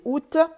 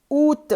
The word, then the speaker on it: août: juillet, J-U-I, 2-L-E-T, juillet, août, s'écrit avec un A, mais ne se lit pas, on ne dit pas